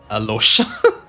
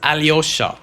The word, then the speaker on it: Alyosha: Or Alosha. I don't know why they're not pronouncing the Y. It's so easy to pronounce. Alosha, what the fuck? It's Alyosha. Where's the Y?